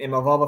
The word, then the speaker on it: Imavov: You got Brendan Allen against Nasruddin Imavov, I think that's how you say it, who just beat Derek Cannonier. No, you pronounce it McGrail.